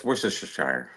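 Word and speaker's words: Worcestershire: It's worister sh. Yeah. It's like the sauce. Nobody can say it. It's It's almost impossible.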